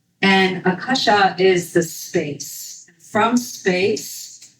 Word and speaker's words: akasha: You might have heard people pronounce it in English akasha. But, it's akasha. And akasha is the space.